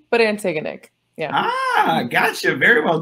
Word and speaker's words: Antigonick: this correctly antigonic how do you say that antigonic it's like but antigonic yeah ah gotcha very well done uh drama